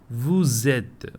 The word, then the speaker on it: vous êtes: Nous sommes, vous êtes. This liaison is there. Why? Because vous is ending with S and et is starting with E.